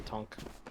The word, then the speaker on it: tank: People call it the Tonk because the guy who designed it is French, and that's how he pronounces it.